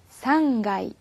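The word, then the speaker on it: 三階: 있네요 그 다음에 3층에는 타 금이 붙어서 요 상가 2 상가 2 이렇게 주시구요 그 다음에 6층은 러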